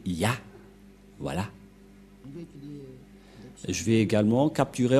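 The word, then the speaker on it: יה: La prononciation de ce terme est ceci, c'est Yah.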